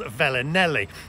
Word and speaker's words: Felinheli: We're actually in a place called Felinheli. Now, it's with a F, but you pronounce it with a V, I'm told anyway, because we're off to